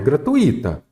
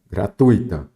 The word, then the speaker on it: gratuita: canal de forma gratuita não é gratuita gratuita correto todo o edital para